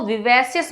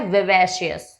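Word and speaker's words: vivacious: अब देखिए आप यहाँ पे आई आया है तो आप इसको विवेशियस मत प्रोनाउंस कीजिएगा, इसका जो करेक्ट प्रोनाउंसिएशन है वो है विवेशियस।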